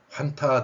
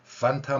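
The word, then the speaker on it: Fanta: 가서 음료수 살 때 판타 먹을래 할 거예요 환타 주세요 할 거예요 그냥 나올 거예요 요즘 소상공인들 힘들어요 웬만하면 사 드세요 자 그래서 판타라 발음인데 이게 환타 판타 이렇게 표기되는 겁니다 그다음에 저번 강의에서 제가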